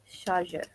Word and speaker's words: chargeur: Okay, chargeur. So as I said, is charger, same thing. Just the pronunciation, we go with chargeur, chargeur, chargeur, chargeur.